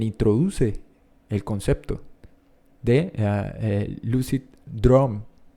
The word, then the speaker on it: droom: Es justamente un investigador holandés, Frederik Van Heijden, quien introduce el concepto de lucid droom. Disculpen la pronunciación, pero es DROOM.